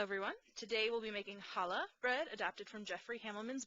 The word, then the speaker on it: challah: today we'll be making challah bread adapted from Jeffrey Hamilton's book or more correctly pronounced challah in Hebrew if you'll notice right